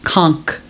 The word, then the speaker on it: conch: Ceviche but it was conk Ceviche what's conk conch is a con shell but the real pronounce pronunciation of a con cell or conch is Con huh conch yep so